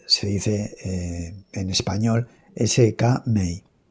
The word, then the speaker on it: Skmei: Y bien, eh, es cierto que que bueno, se pronuncia de varias, normalmente se dice eh en español SK May e que en realidad la MEI de SK